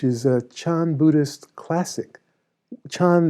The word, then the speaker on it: Chan: Chan is the Chinese pronunciation of sudden awakening, which the Japanese pronounce Zen.